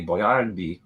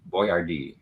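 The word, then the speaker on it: Boiardi: Uh, so the correct pronunci the authentic Italian pronunciation, you put the stress on the middle syllable.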